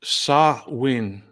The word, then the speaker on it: Samhain: Samhain, a Gaelic word. Sa-win is Scott, a proper pronunciation.